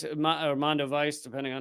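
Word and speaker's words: Mondoweiss: So this is from Mondo Weiss, or Mondo Weiss, depending on how you pronounce it, but they do great work on Israel and Palestine.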